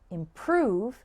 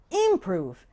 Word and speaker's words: improve: on the first syllable and the word improve has the stress on the second syllable if you get the